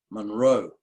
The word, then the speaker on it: Munro: In Scotland, they say it like Monroe, like that, emphasising the second vowel.